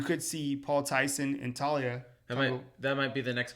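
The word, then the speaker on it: Taulia: Talia?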